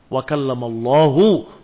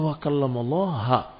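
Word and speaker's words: وَكَلَّمَ اللَّهُ: Allah mengajak bicara Musa dengan dhammah pada lafdzul jalalah. Wa kallamallahu Musa taklima. Tetapi bacaan tadi didengar oleh seseorang, kok bacanya wa kallamallaha, mengajak bicara Allah Musa.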